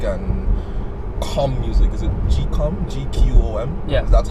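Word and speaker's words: gqom: African house music and calm music is it gcom GQ om yes that's how it's pronounced yeah calm music right and you listen and you're like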